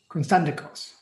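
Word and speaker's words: Konstantakos: Constantikos.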